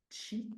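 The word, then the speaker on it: qi: On a l'énergie vitale, donc ce chi, ça s'écrit q i mais ça se prononce chi t ch i.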